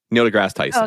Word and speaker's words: Neil deGrasse Tyson: Neil deGrasse Tyson.